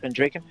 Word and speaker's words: Pendraken: Actually, right now I'm taking out my my French from Pendraken. Yeah. Is that how you pronounce it? Pendraken? Yep. Yep.